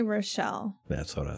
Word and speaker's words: Rochell: can't remember oh robert rochelle or rachel i don't know you know how i'm about pronouncing that let me look at it r-o-c-h-e-l-l oh i would say rochelle that's what i said